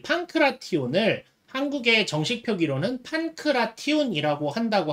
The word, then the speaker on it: 판크라티온: 가야 되는데, 제가 그간은 이 판크라티온 부분을 제가 판크라치온으로 주로 읽어왔거든요. 판크라치온이라고 읽어왔는데, 이게 이제 일본 표기가 이래요. 일본 표기가 이제 판크라치온으로 하고 있어서, 이제 그간 그냥 저도 습관적으로 판크라치온 이렇게 읽어왔었는데, 이게 한국에서 이제